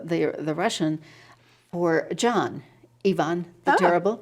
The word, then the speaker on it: Iwan: paternal grandfather's name was spelled i-w-a-n it's pronounced ivan in polish and it's actually uh a transliteration of the eastern european the the the russian or john yvonne the terrible right and